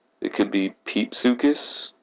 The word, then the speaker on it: Pepesuchus: i think it's pronounced pepe sukis it could be peep sukis i think it's pepe sukis though um it lived in